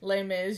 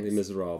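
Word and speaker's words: Les Misérables: Yeah, you could be just lazy and say Les Mis, your first 2006. Les Miserables.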